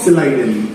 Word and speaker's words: Schleiden: Matheus Jacob সিলাইডেন, SCHLEIDEN, Matheus Jacob সিলাইডেন। যদি মনে না রাখতে পারো বানানটা, তোমরা MJ সিলাইডেনও করতে পারো।